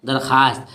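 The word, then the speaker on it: दरख़्वास्त: लिखा है दरख्वास्त, पढ़ते क्या हो, दरखास्त।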